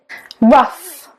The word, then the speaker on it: rough: Rough, rough as in suffer. Suff, rough.